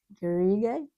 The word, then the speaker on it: garrigue: Garrigue.